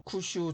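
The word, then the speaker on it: 九州: 중국과 가까운 서쪽에 있는 구주 일본어 발음으로 쿠 슈 지방에서 생겨났을 가능성이 상당히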